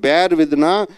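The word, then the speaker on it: bear with: பேருக்கு பி எப்படி உச்சரிக்கணும்? பேர் வித். அனைவருடைய உச்சரிப்பும் சரியில்லையே. பின்னு வரும்போதே பேர் வித் என்று சொல்ல வேண்டும்.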